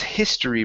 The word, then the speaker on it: history: Make sure to pronounce that H sound. So his history book.